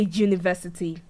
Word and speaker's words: university: So U is pronounced with a consonant sound, even though it is a vowel letter and it's starting our noun. So we pronounce it as a consonant sound there.